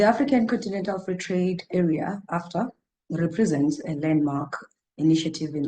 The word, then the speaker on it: AfCFTA: The AfCFTA, or the AfCFTA, as you corrected me, is the right way to say it, has been in the news for some time.